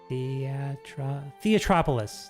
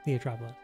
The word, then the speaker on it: Theatropolis: I said it, like, I figured out how to say it a second ago. Theatropolis. Theatropolis. Does this just lead to Theatropolis down here?